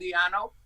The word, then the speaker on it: Di'Anno: So I have the first two album, Killers and Iron Maiden, with Paul Di'Anno. Mm-hmm. And I think that Paul Di'Anno, is that how you pronounce it in English? Yeah. Paul Di'Anno, yeah.